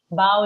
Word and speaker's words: bow: to say bow okay the pronunciation is bow down yes ma'am bow like wow bow wow bow down yeah that's true